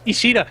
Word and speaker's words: Ishida: I'm just Ishida. gonna call you Shida. Shida. Yes. Why don't you do that? Because It's Ishida.